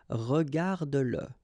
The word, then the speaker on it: regarde-le: like in that case, then you will have to pronounce it. Okay, so regarde-le, regarde-le.